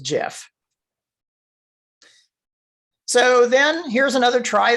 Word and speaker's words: GIF: and over again and i always call it gif even though i've been told several times that the proper pronunciation is jif so then here's another